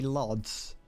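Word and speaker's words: Łódź: It's like how you've got the city Lodz is definitely not pronounced Lodz at all.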